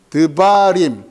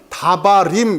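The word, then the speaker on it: דְּבָרִים: 그러면 다바림 이렇게 발음되면 얼마나 좋아요. 임 외우기도 머리 아픈데 임이 붙는 순간 다바르가 어떻게 발음된다고요? 드바림으로 바뀐단 말이에요.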